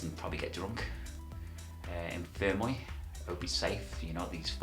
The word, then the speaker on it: Fermoy: It's, well, how do you pronounce the name? Fermoy. I'm not Irish, but I think it's Fermoy.